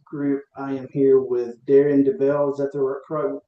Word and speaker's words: Daren Debel: I am here with Darren Debel. Is that the correct That is You're one of the few that pronounced it correctly.